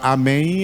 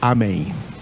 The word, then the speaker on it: Amém: pronuncia com n porque tudo quanto é palavra em português que termina com m nós da língua portuguesa não pronunciamos esse M nos pronunciamos ele então